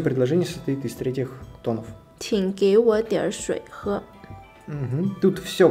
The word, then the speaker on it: 请给我: В данном случае мы произнесли... третий, второй, третий. То есть тин, гэй, во.